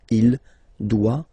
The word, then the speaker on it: doit: Final T not pronounced. Il doit, elle doit.